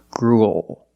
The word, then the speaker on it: gruel: compare these two words gruel is a kind of food it ends with a dark L because the L is after a vowel it's at the end of the word after a vowel that's when you use a dark L gruel but if I put